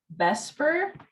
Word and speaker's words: BSEPR: is notes 24 on bsepr which is usually pronounced bespur um and then we're